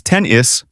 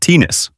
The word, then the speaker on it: tennis: And tennis is tennis, not tennis.